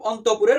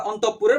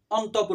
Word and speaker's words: অন্তঃপুর: অন্তঃপুর বলা হচ্ছে এরূপ অন্তঃপুরের পর্দা অন্তঃপুরের পর্দা উঠাইয়া ভিতরের দৃশ্য দেখাইলে আমার ভাতৃগণ অত্যন্ত ব্যথিত হইবেন সন্ধ্যাহানে এখানে শব্দটা অন্তঃপুর না এটা হচ্ছে অন্তঃপুর অন্তঃপুর এভাবে উচ্চারণ করবা এটা উচ্চারণের মধ্যে আসতে